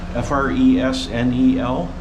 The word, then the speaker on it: Fresnel: Here's the Fresnel lens. It's spelled Fresnel, F-R-E-S-N-E-L, but it was designed by a Mr. Fresnel, a Frenchman, and the S is silent.